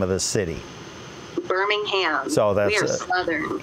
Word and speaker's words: Birmingham: How do the folks in Alabama pronounce the name of the city? Birmingham.